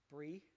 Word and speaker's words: Bree: But starts with a B and rhymes with Bree. Bree. Like the cheese, yeah?